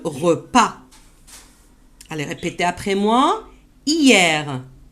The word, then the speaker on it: Hier: Hier. Vous avez vu ici le H, on ne l'a pas prononcé.